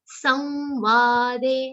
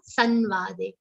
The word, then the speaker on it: Samvade: So Yoga Shastre Shri Krishna Arjuna Samvade and not Sanvade, or not Samvad also. It's not Samvad, it's Samvad. Anuswar will be pronounced like a nasal verb.